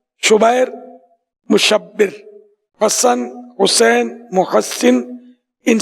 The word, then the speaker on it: شبیر: شبر اور شبیر، اعلیٰ حضرت نے اس کا تلفظ ہی بیان کیا، شبر، شبیر، مشبر۔